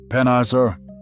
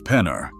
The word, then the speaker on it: Penner: "Heard the news, Pennizer?" Zix's mechanical voice cut through the rising din. "It's Penner," Leon corrected, emphasizing the final syllable.